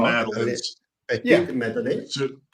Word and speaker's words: madeleine: Is it Madeleines? Madeleines? I always said Madeline's, but I could be totally wrong.